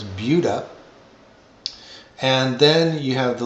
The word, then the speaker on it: Buda: It's spelled like you expect to say Buddha, but it's Buda.